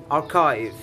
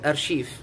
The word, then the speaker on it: archive: about number two the second one is archive archive most people call it archief which is incorrect so we have to pronounce it again archive okay archive number three